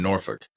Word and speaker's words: Norfolk: Yeah, no, they in the UK they don't pronounce the L, and neither do the people who are from, say, Norfolk, Virginia. Norfolk. I had a college baseball teammate that was from Norfolk, and he just said Norfolk.